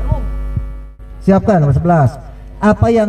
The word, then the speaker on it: Roem: Penulisannya Muhammad Roem. Ejaan lama Roem, bacanya Rum.